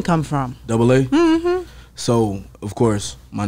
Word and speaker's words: Dubba-AA: a conv conversational starter like is it duba is it you know what i'm saying so double a you know what i'm